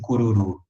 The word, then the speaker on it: Cururu: gente pronuncia cururu né agora em latim gente não pode ser cururu a sílaba nunca é a última né então a gente pronuncia cururu beleza essa eu alison